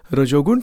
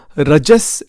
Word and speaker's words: Rajas: Sattva gun, Rajogun, Tamogun. Or it's actually pronounced Sattva, Rajas, and Tamas.